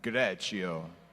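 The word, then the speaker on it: Greccio: a town called greto everyone say greto and now say it like an outrageous Italian greto okay he was living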